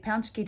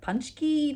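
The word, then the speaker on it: pączki: i would have said patsky day um apparently it's also pronounced panchky day which is apparently incorrect so um i did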